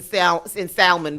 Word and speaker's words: salmon: It was like, go on and start pronouncing the L in salmon because nothing makes sense.